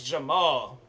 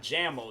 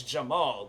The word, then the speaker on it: Jamal: It's Jamal. Like, then he legit questioned my last name. Talking about, well, he's like, there's not another L in your name. Maul is spelled with 2 L's. I'm like, that's Maul. That's the place that you go to. But my middle name is Jamal with 1 L.